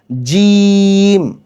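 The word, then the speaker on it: ج: করব সা এই জিম এই জিম উচ্চারণ করার সময় আমাদেরকে শক্ত এবং মজুদ মজবুতভাবে বলতে হবে জিম তিন আলিফ টানতে হবে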